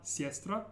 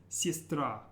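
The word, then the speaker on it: сестра: means sister sistra and watch your stress it's not siestra but it's sistra and the emphasis is on the very last syllable of the word sistra let's try this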